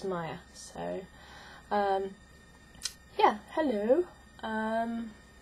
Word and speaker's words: Maja: um yeah I am Maya um a lot of people think that the name is pronounced MAA or Maha but it's Maya so um yeah hello